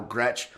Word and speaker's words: Gretsch: It's Gretsch. We had the conversation my first race I did. Okay. You mispronounced my name because everyone typically pronounces the Z that's in my name that's silent.